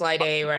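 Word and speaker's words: Laide: off all right um l a i d laade am I pronouncing that correct you want to introduce yourself it's correct hi my name is Li day Friday um like today uh started a I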